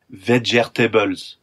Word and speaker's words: vegetables: He asked what kind of vegetables we grew in Australia, except he pronounced it vegetables. Yes, four syllables, which I realized I actually preferred.